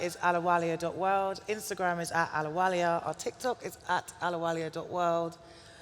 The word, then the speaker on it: Ahluwalia: to find you okay my surname is spelled a-h-l-u-w-a-l-i-a and that's Ahluwalia and so Ahluwalia.world is our